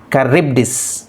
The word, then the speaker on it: Charybdis: us see the kryptos c h is pronounced as ka as in kill y and i are pronounced as e as in sit so finally it has to be pronounced as charybdis so rab rib has to be stressed caribbeas so it has to